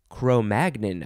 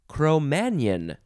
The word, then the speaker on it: Cro-Magnon: hmm crow magnin cro-magnon i think you emphasize the mag chromagnon or and i never thought about this because of the way magnin is spelled you can also pronounce it chromanian which is a very french way and probably the more accurate way to say it chromanian it is spelled